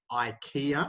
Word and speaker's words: IKEA: language so for example in english we say ikea i know most europeans hate that but that's what we say um not ikea uh we say apple nike